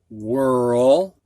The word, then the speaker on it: whirl: Now the IR, in, bird, fur, first, dirt, skirt, sir, girl, whirl. Notice that the WH follows our rule where the H is silent.